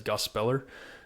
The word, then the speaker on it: Gospeller: Yeah, Gospeller. Some people say, but Willie Robertson does pronounce it as Gospeller.